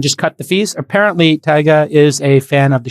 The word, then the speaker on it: Tyga: account okay everybody rapper tyga uh spelt t y g a kind of pronounced like tiger but tyga deleted his